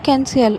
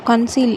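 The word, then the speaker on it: conceal: இதை கன்சீல் அப்படின்னு தான் ப்ரொனவுன்ஸ் பண்ணணும், கன்சீல் அப்படின்னு சொல்லக்கூடாது. ஏமாத்துறதுக்கு என்ன இங்கிலீஷில்?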